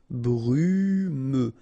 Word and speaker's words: brumeux: Brumeux. Okay, final X not pronounced, so you get this E and then U. Brumeux. Brumeux.